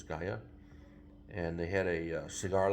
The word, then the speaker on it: Gaia: That's across the bridge over in Gaia, or Jaya, I don't know how to pronounce that. Gaia. Christine says Gaia.